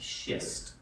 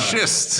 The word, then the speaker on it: schist: Just so you know, it is pronounced schist. Thank you. Thank you very much. Schist.